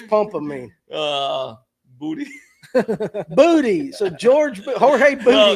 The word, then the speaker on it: Jorge: You guys roll your R's. That's Jorge.